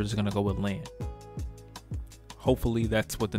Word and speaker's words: Lahn: By the way, it's being pronounced Lahn on these translations. That's why I'm not calling it Ran anymore. I think Ran is fucking retarded. I think Lahn makes a lot more sense.